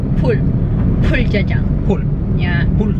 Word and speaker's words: Bul: Sa Korean kasi, yung B. Para siyang P. P and B. It's like an in-between. So it's like pul.